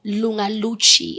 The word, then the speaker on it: Lunga Luchy: Well, today I've got a special guest from one of the biggest OPs we've seen on TV by the name of Lunga Luchy.